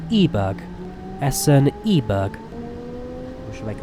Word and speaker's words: Eiberg: I keep saying Eiberg, I think it's actually meant to be pronounced Eberg.